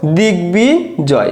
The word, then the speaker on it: দিগ্বিজয়: দেখো দিগ্বিজয়, তাহলে দিগ্বিজয়, দেখো গর উচ্চারণও রয়েছে বর উচ্চারণও রয়েছে, দিগ্বিজয়।